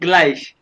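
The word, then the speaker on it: gleich: Plus O यू को ओ के plus plus plus स्वाई equal को कहते हैं ग्लाइश, इक्वल कहते हैं ग्लाइश, गुलाई फिर प्लस स्वाई ग्लाइश जीवन, ठीक है जीवन।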